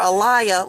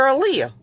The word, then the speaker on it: Aaliyah: They call her Aliyah like twice. And then at the end of the video, when this police officer that called her Aliyah, because he couldn't say her name right, was talking to the coroner, he called her Aaliyah.